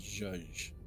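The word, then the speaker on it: zhuzh: what was the word it's like z h u z pronounced Jud and uh that's not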